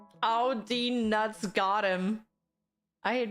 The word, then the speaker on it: Audi: of this automobile brand, but how do you say it in German? Simply Audi. Audi.